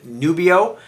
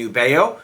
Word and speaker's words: Nubeo: Folks, when I do a video, unless the company specifically reaches out, like Nubeo, in the beginning, and other YouTubers too, will call the brand Nubio. It's actually Nubeo.